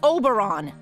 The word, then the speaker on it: Oberon: Now, I keep telling you, in this world, I am to be addressed as Oberon, the Fairy King. And I keep telling you, it's pronounced Oberon, you know, like moron.